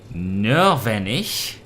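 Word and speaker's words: Nörvenich: Nordvenich?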